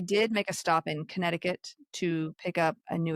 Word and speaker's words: Connecticut: Um, they did make a stop in Connecticut to pick up a new assistant engineer. Do you ever say Connecticut when you're trying to spell it? Because there's like a C right there. Connect.